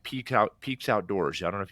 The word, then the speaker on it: PEAX: Like we have brands where like Peaks Outdoors. I don't know if you've heard of Peaks Outdoors. PEAX is how it's spelled.